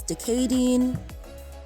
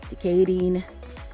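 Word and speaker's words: Dé Céadaoin: tuesday is the mort de mort wednesday is decading decating thursday is darden dardin friday is tahina tahina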